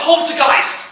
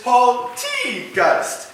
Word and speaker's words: Paul T. Geist: done Paul you're up Poltergeist no no go it's Paul T ghost it's a long tea see I give you